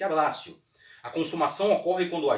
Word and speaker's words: abbraccio: também comprei tá certo lei parece ter sido ablation mas pronuncia-se abbraccio a consumação ocorre quando